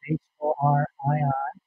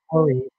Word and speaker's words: Horii: The last name is spelled H-O-R-I-I. Some people call it Horii, but the correct pronunciation is Horii.